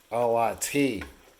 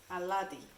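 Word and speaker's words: αλάτι: Alati. Aladi.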